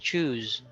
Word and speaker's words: choose: difference between goose and choose goose is pronounced as s Cho is pronounced as Z then we have flu